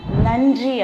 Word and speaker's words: நன்றி: நன்றி அப்படின்னு நாக்க கடிச்சு சொல்லணும். சரியா?